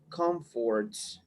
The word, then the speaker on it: comforts: Okay, to live the comforts. Comforts. You have the stress on the first syllable, Comfort.